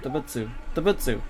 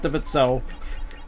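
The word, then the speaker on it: 動物: But I think animals debutso, so no, debutsu, yeah, not debutso.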